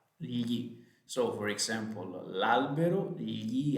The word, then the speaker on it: gli: That is difficult to pronounce. It's a GLI, gli.